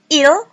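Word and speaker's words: ils: Kemudian ada il, ini pengucapannya sama seperti dia laki-laki, S tidak diucapkan.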